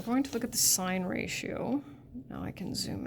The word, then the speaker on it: sine: So, and on your calculator, its abbreviation is SIN, still sine. That's how we pronounce it.